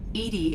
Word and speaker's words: EDI: are you named edie edie is the phonetic pronunciation of edi that is an acronym for enhanced defense intelligence why are you named